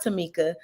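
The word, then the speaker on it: Tomeka: on the screen and my mom did name me and spelled my name a little different but it is pronounced Tamika so uh t-o-m-e-k-a and if you're going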